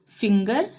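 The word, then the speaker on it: finger: Give, gate, girl, टाइगर, begin, forgive, begin, forgive, फिंगर, together, gift, हंगर, ठीक है।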